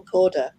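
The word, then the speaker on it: Cadwalladr: People like Carol Corder, spelt Cadwallader, but it's pronounced Corder, who has exposed lots of injustices.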